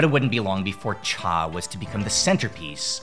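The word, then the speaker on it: 茶: It would be a slight adaptation of TU with just a single minor difference and its pronunciation. Cha would most likely be influenced by la, the original word in Yunan.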